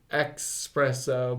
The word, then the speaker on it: espresso: Did you know that you spell that shit like E-S? Yeah, it's espresso. not E-X. Yeah. I thought it was espresso, but it's espresso.